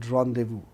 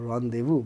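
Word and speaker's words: rendezvous: d e w o rendevu. But it is r e n d e z v o u s because it is a French word. The French pronunciation is different from English pronunciation.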